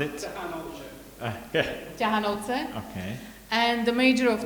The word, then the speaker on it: Ťahanovce: You pronounce it. Ťahanovce.